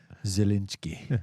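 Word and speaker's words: Zelensky: between zelinski how do you say it Phil zalinski okay the president of Ukraine that's it and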